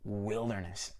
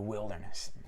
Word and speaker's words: wilderness: So it can be a difficult word for learners because of course we've got the word wild where the pronunciation is I, but here wilderness, the wilderness.